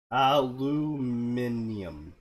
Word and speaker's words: aluminium: How do the Germans pronounce aluminum? Aluminium.